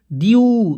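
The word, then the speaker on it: dew: rule है इसको समझिए जब किसी वर्ड में ई के बाद डब्लू आए तो ई डब्लू का उच्चारण यू के रूप में इ यू से पढ़ते हैं इसका उच्चारण क्या होता है यू यू के रूप में देखिए अब मान लीजिए यहां पे अब क्या क रहा है ई के तुरंत बाद डब्लू आए तो ई के तुरंत बाद डब्लू आया तो ई डब्लू आया तो इसका उच्चारण ड्यू तो डीई डब्लू क्या हो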